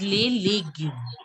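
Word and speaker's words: légume: Just try that you pronounce it as legume. Legume. Like the alphabet A.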